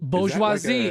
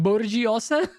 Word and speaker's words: bourgeoisie: I would always have to like sound it out like Borgiosa, like it's Italian.